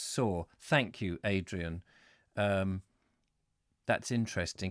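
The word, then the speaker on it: Soar: not an easy Oh River saw pronounced saw Thank You Adrienne that's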